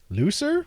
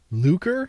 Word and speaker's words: lucre: Looser? What is that word? L-U-C-R-E? Money, especially when regarded as sordid or distasteful or gained in a dishonorable way. Lucre?